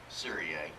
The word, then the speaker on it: Syria: is uh Syria believe it or not it's pronounced serrier fortunately I my parents